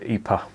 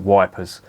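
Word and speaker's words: Ypres: village or town and they were expected to pronounce the word ipa and they just couldn't do it so they called it wipers phonetically that's what it looks like it's y-p-r-e-s and that's how it being became known wipers there was obviously other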